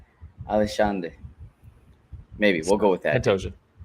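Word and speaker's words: Alexandre: The X is a sh in Portuguese. Alexander.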